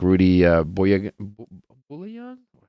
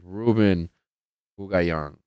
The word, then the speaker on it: Ruben Bugayon: How do you say his last name? I feel bad not know how to. I gotta get it. I gotta get it. Gotta get it. Ruben, not Rudy. Ruben Bugayon.